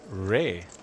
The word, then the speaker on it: Rui: Nimg, by the way, in chat telling us how the RUI is pronounced Ray.